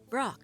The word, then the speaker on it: Brok: It's pork, of course. No, it isn't. Brok, Chief.